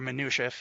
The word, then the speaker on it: Minutiae: Of course, check out Mat Minutiae, or Minutiae if you're into pronouncing things correctly.